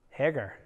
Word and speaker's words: Hagar: me yes max am I saying it right Hagar yeah but not Sarah Sarah doesn't have any